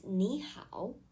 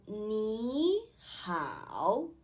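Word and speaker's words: 你好: correctly rule number one when two third tone syllables appear together the first syllable changes to the second tone for example we all know that hello in chinese is nihao if you notice that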